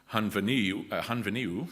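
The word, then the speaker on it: Henfynyw: first $10 prize is for anyone who can pronounce the name of that town accurately, and if you guessed Hunveniu, you would be correct.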